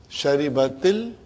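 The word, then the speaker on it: شربتِ ال: Now, in order to pronounce them, the first sukoon will always get a kasra, temporary. Now pronounce. Sharibatil, then you can, from T you can go to Al.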